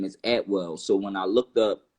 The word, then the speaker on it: Atwell: my last name is Atwell so when I looked up you know at well you know it you know I came to the uh a saying that saying is actually pronounced at will and it's a British